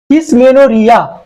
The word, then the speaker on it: Dysmenorrhoea: ডিসমেনোরিয়া, এই ওটা উজ্জ থাকে, উচ্চারণ হয় না।